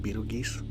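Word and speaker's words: Betelgeuse: Um, Beetlejuice and Beetle Geese. It depends on where you're located.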